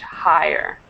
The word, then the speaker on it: higher: correction for you deid this word higher make sure to pronounce that H higher higher okay great and um